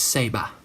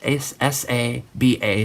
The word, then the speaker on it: Saba: to go to was Saba. It's spelled S-A-B-A. Some people call it Saba.